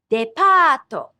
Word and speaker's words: depato: A department store is depato. Depato. Notice the Japanese also adds an extra syllable for English sounds that end with a consonant.